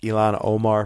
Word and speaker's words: Ilhan Omar: And then, of course, a few of these radicals who are now elected to Congress, one from Minnesota, it's pronounced Ilhan Omar from Minnesota, and there was another woman from Michigan who was elected and didn't wave the U.S.